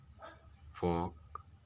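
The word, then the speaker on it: folk: जैसे class, army, फोक। यहां पर साइलेंट होता है।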